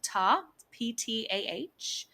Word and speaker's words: Ptah: It's pronounced Ta, Ptah, is a Okay.